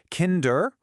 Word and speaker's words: Kinder: Is it kinder or is it kinder? H. Which one sounds right to you? Yes, you got it. The first one. The stress is on the first syllable.